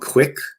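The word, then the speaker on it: Quik: If you're on Android, there's an app called Quick. It's spelled Kuik, and it's made by GoPro.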